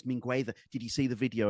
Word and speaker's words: Mingueza: Otherwise, you've got Mingueza or so So it's Mingueza.